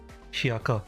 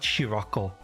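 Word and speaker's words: Shiroko: Her name is Shako. Shako. Shiako, not Shioco. I I'm I'm adding emphasis when when they shouldn't be.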